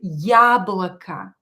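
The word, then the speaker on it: яблоко: easy easy so don't reduce it pronounce it as ya as in the word ya blaka ya blakka yablaka it is stressed so don't change it yablaka abbasannest here double and pronounce a little bit longer a beasenest here a is not stressed so pronounce it as a ya blakka not stressed os will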